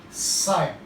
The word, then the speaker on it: psi: This water potential is represented by a Greek letter psi. This is the sign of psi. PSI, psi. P is silent.